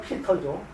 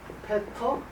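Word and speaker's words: Peter: 독일말로 하면 영어는 피터죠. 피터 노이아르. 독일말 발음을 하면은 페터 노이아르.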